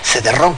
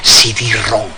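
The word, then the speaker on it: cidrón: figura que decía que no había que decir cedron que había que decir cidron así que seguimos con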